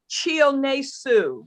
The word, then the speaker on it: Chionesu: me Chi, because it's spelled Chihonesu. So the first 3 letters is Chi. So, but it's Chi. Break it into syllable. Break it into white folk syllables. Chi O Ne Su. And that's pretty much how it's pronounced.